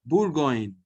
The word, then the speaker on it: Bourgogne: Bourgogne. OU is U.